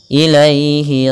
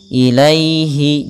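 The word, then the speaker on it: إليه: Ilaihi raji'un. Ilaihi. Di sini bacaan nin lembut dalam pelafalan ya-nya dan sempurnakan kasrah daripada huruf ya-nya. Ilaihi, jangan ilaihi, jangan ilai. Jangan dengan bacaan e tapi i.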